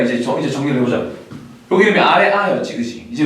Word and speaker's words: 아래아: 여기 이름이 아래아였지, 그치? 이제 왜 아래아인지 알겠죠? 발음은 아 발음이 나는데 자음의 아래쪽에 붙은 아잖아. 무슨 말인지 알겠지? 그래서 아래아가 되는 거예요.